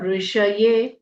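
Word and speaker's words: ऋषये: ओम अगस्त अगस्त्य ऋषय ऋषि वाला ऋ पेट कटा श पूरा बोलना है। ऋष ये य में ए की मात्रा दीर्घ ओम अगस्त्य ऋषय नमः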